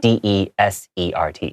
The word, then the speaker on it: desert: it's just one s d e s e r t yeah also the pronunciation is different you say dessert for the sweet food and desert for the the the place that is very hot yes so that's a